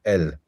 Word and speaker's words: al: which is where the the short a, can become pronounced like an e, so el.